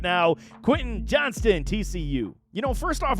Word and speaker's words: Johnston: report this time on Quinton Johnson Johnston always get that man's name wrong there's an s in that name but I'm telling y'all